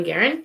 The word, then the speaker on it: Garen: And that is actually how you pronounce it, Garen. Most people say Guerin, but it is Garen.